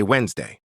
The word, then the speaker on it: Wednesday: because it comes from French coronal but English changed the spelling Wednesday. We say Wednesday but it's actually Woden's day named after a Norse god receipt.